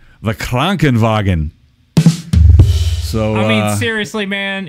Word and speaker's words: Krankenwagen: Yeah, Krankenwagen. I even went and checked it out for the proper pronunciation.